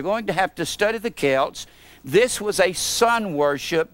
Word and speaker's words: Celts: of the old ancient son festivals of the Celts now if you're going to study Halloween you're